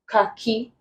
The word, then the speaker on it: khaki: Vehicle, khaki, rhyme, hammer. Answer becomes hammer. The H is silent in these three words. It's not pronounced, but it's pronounced in the word hammer. Then here we have this.